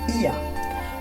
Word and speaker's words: Oia: Un sentier côtier serpente entre Fira et Oya, qui se prononce Ia, offrant à chaque tournant,